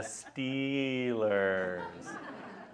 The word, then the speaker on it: Steelers: And like, and then after a while, I realized, the Stillers take on whoever this weekend. Oh, the Steelers. You're saying it wrong.